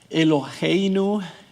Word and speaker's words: Eloheinu: Eloheinu casi se pronuncia como una J, pero es suave.